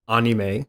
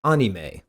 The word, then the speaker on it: anime: pokit furthering this point let's look at anime versus anime once more a borrowed word in that word is animation first remember that a vowel sound ah second it's obvious